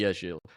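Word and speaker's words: Ag1l: And I said, okay, how do you say it? And he says Agil. So it should be Agil.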